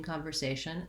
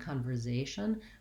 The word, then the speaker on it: conversation: conver conversation and then this letter s in conversation actually does say an s sound and this